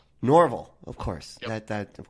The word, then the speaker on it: Norval: It's Norval? Norval, of course. Yep. That of course I'd mispronounce that.